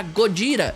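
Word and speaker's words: ゴジラ: Então, pra escapar do processo, eles trocaram de Godzilla para Godira, que é exatamente como se fala Godzilla em japonês.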